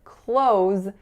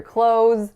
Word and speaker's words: clothes: and common to hear clothes exactly like we say I'm gonna close the door so think about it as KL tents fellow rounded vowel o followed by the sound so I like your clothes and please close the